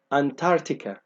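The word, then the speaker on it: Antarctica: القارة اللي قدامي دي أنا المفروض ما انطقش السي اللي هنا فمش هنطق على إنها كده فتبقى أنتاركتيكا أنتاركتيكا ما بنطقش السي.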